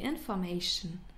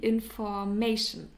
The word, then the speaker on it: Information: Yeah, example giving: die Information, the information. And please take care of the pronunciation, because many English speakers pronounce it in an English way and say die Information. That's not, it's die Information.